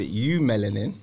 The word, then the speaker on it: eumelanin: One is called eumelanin. Eumelanin. It's spelled E-U melanin, and the other one is called pheomelanin.